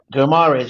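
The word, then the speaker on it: Guimarães: Bruno Guimaraes, is it? Guimaraes, yeah. Guimaraes, with Odegaard in the starting 11, Guendouzi would be nothing more than an impact sub. Yeah, possibly, and I think Guimaraes would be a great fit for Arsenal.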